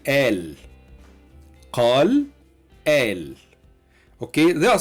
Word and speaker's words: قال: Okay, so instead of qala, he said, we say al.